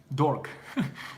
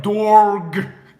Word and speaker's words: dork: Dork. It's the way you said it sounds like dorg.